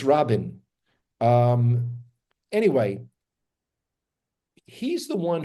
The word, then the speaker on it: Rabin: it no no no in English everyone always says Rabin Rabin yeah here it's Rin um anyway he's the